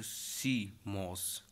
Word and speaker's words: CMOS: सीमोस का क्या होता है, पूरा नाम कॉम्प्लीमेंट्री मेटल ऑक्साइड सेमीकंडक्टर होता है एंड प्रोनाउंस्ड सीमोस।